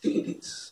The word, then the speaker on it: Ticketees: was Ticketees. Okay. It's spelled Ticket, EES. Okay. We called it Ticketees because there was EASE was not available, but we still wanted the feel of ease in the name.